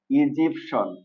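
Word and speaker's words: Egyptian: ইগোপটিয়ান না এটা হবে ইজিপসন এই যে টি আই এন এটার উচ্চারণটা হবে সন ওকে তাহলে আমরা কোন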